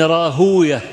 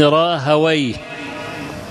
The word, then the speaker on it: راهويه: سيماوي يعني جماعه الايه النحاه والمحدثون النحاه يقولون وي اما المحدثون يقولون اويه اسحاق ابن راهويه المحدثون هكذا ايه ينطقونها اما اهل اللغه فيقولون اسحاق ابن راهويه وقد انشدوا في ايه